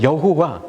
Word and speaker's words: 여호와: 여호와. 여러분, 여호와라는 말이 우리가 여호와라고 쓰고 있지만 실은 이 말이 제대로 된 발음이 아닙니다.